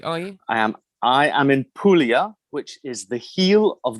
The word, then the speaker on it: Puglia: And I also thank you for pronouncing it Puglia. Am I saying it right now? Puglia. Puglia. Puglia, Good. yeah. Wasn't entirely sure how to pronounce it.